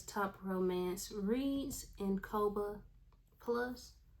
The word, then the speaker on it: Kobo: Top Romance Reads in Kobo Plus. It's either, I believe it's Kobo. Let me get it. Kobo is what I've heard a lot of people say is how they pronounce it, so that's what I'm gonna do.